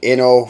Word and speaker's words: Inno64: however you want to say it but probably the proper pronunciation would be like inno for innovation uh innovative i guess